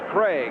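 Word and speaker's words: Krieg: K R I E G, but pronounced Craig.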